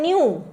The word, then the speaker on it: knew: होती हैं नो, KNOW, KNOW है पर इसका प्रोनाउंसिएशन हम नो करते हैं, ठीक है। इसका सेकेंड फॉर्म हो जाता है न्यू, KNEW, आई न्यू everything about this, मुझे इस